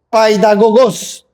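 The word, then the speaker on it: παιδαγωγός: Pero hay otra palabra que se pronuncia en griego paidagogos, de donde viene la palabra pedagogía.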